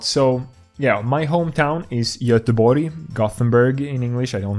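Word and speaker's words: Göteborg: things a lot so yeah my hometown is yatabori Gothenburg in English I don't know why we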